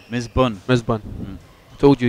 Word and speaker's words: Misbun: dos stick smash ramdan is it MB bur or is it Raman what we sticking with well it's not MB bur either bun Miss bun Miss bun I told